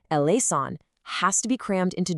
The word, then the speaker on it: eleison: And typically, you say it with four very distinct syllables, e lean.